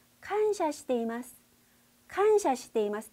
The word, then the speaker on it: 感謝: 칸샤, 칸샤. 이 칸샤가 바로 한자로 보시면 감사예요. 우리 감사합니다 할 때 감사 한자를 칸샤라고 발음하게 됩니다.